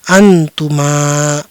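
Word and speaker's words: أنتما: Selanjutnya, ini sama dengan yang sebelumnya, jadi kita membacanya sebagai " antuma".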